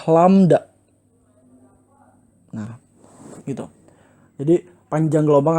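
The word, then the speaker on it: lambda: atau kita terus disini dia dibacanya adalah lamda nah itu jadi panjang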